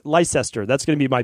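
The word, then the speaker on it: Leicester: impossible for me so let me spell it out for you l e i c s t r and everyone from the UK can absolutely give me a hard time on Instagram if they would like but I'm pronouncing it Lester Lester that's going to be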